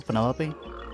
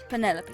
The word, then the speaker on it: Penelope: delightful any poter pleasure is that short for Penelope officially yes but I never can be bothered with all four syllables of it Penelope sounds a little ostentatious